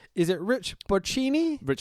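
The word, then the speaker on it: Bocchini: So, our commentators for tonight, uh I don't know how to pronounce his last name. Is it Rich Bini? Rich Bashini, who was Rich Brennan in NXT.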